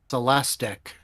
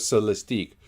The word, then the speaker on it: Celestiq: out the pronunciation is Celestic. did you say plastic? Plastic. It rhymes with it. Yeah. Well, it's No. the lyric and the Celestic. Yeah, I'm sticking with Celestique because I think we should make that canon.